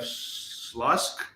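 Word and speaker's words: Śląsk: So we have Chemnitz, we have Panionios, we have Slask, I think, from Poland. Yeah, It's yeah.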